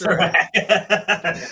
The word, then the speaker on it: Sirak: Sirak? I didn't ask. I'm sorry. Correct. It's Sirak. I do that at least one show a week. I forget to ask how to pronounce the name. My apologies. Actually, you were pretty close. It's really been butchered. You were like right on the money.